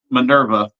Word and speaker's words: MNRVA: I'm just going to spell it MNRVA. I'm assuming that's pronounced Minerva.